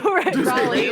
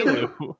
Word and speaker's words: Rayleigh: Raleigh. Rayleigh.